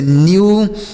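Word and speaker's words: new: तो अगर ई के बाद डब्ल्यू रहे तो ई का उच्चारण यू के रूप में होगा। किसके रूप में? यू। जैसे न्यू, स्यू, ड्यू, फ्यू, ब्लू।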